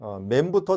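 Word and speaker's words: מם: 우리 그러면 맴부터 다시 한번 시작을 하겠는데요. 이 맴은 우리나라 발음하고 너무 비슷해요. 맴, 우리나라 미음하고 너무 비슷하죠? 발음도 똑같습니다.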